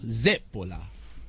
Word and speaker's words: zeppola: The accent being on the first syllable. Zippola.